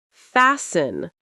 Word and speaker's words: fasten: You don't pronounce the T at all. It disappears. Common examples: listen to listen. often to often. Castle to castle. Whistle to whistle. Fasten to fasten. Christmas to Christmas. Sentences to repeat.